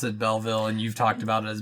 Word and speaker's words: Belleville: keep going between Belleville and Belleville the directors pronounce it Belleville and you've talked about as Bela bail for a long time I think the reason